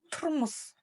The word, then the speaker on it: тұрмыс: Буква У произносится твердо и очень-очень кратко. Лишь намек на ее существование. Турмус, турмус, турмус.